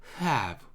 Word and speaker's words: have: 그러다 보니까 이 영어 발음 자체는 호흡을 내뱉는 소리이기 때문에 호흡이 묻어나는 소리이기 때문에 H 발음이 항상 들어가 있어요. 원래부터. 그래서 우리가 have라고 우리나라 말로는 have지만 얘네들은 바람을 앞에 불면서 have, have를 합니다.